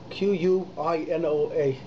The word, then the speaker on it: quinoa: Asst he comes in here about quinoa quinoa spelled with AK u qu Ino a is quinoa person says boy n o a